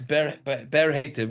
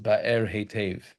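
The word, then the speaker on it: Be'er Heitev: But now this next ber hetev, or if you listen to the laning today, it should really be pronounced ba'er hetev, right? But we're gonna talk yeshivish, and we're gonna say ber hetev.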